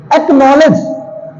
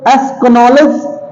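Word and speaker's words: acknowledge: नहीं कर रहे हैं अब साइलेंट कर ले तो एक्नॉलेज एक नॉलेज एस्क नॉलेज और एक्नॉलेज कितना अच्छा लग रहा है तो इसलिए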